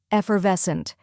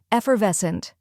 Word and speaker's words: effervescent: the ER in her then comes VES which rhymes with less and is the stressed syllable finally HT which sounds like UNT in Hunt now let's put it all together effervescent try repeating after me